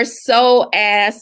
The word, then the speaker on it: psoas: It is P-S-O-A-S, psoas. The P is silent. Okay, so where is your psoas muscle?